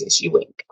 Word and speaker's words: Ewing: um it kind of ties in with multiple stories um the person being accused his name is Alex Ewing spelled e-w-i-n-g but the pronounce CSU wing um this happened near